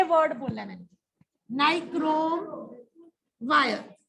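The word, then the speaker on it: nichrome: ये वर्ड बोला मैंने, नाइक्रोम वायर। इसको निक्रोम भी बोलते हैं कुछ बच्चे, प्रोनाउंसिएशन वैसे नाइक्रोम बोलेंगे, नाइक्रोम वायर।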